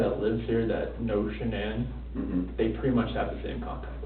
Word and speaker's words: Shanann: And I don't want to pronounce her name wrong, Shanann? Shanann? Shanann, Yep.